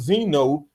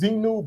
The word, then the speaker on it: Xenu: mentioned the tool called Zeno um or something sounded like that in episode 357 of the hash besto podcast what's the real name Andy great question it is zenu but it's spelled Xenu it's from a company